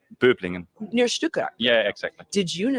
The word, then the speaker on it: Böblingen: Böblingen.